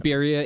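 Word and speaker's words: birria: Beria is B I R R I A. And I am not saying it in the correct accent. I'm saying it how Utons say it.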